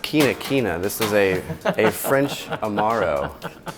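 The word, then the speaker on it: Quinquina: That is pronounced quina quina.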